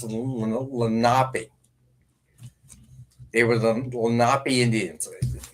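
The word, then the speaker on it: Lenape: So, Steve Lenipe is actually the Indians that uh settled this part of the New Jersey. It's actually actually pronounced Lapi.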